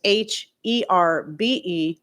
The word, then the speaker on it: herb: So it's h e r be but they still don't pronounce the h. It's still a silent h. So, you know, if you want to be really technical, it's herb is the more proper way to pronounce it, but I'm not going